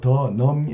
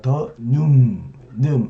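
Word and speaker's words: 더늠: 네, 이 발음이 하기가 쉽지 않은데요. 더넘이 아니라 더눔, 아래의 음인데요.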